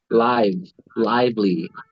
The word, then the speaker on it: lively: one peaceful lively lively so you actually that's pronounced lively so they're supposed to be pronounced they're pronounced the same way they're spelled the same way right live and live right live and live they're spelled the exact same way มันจะสะกดมีสะกดเดียวกัน right so live and lively but in this case you'll pronounce it lively okay so peaceful what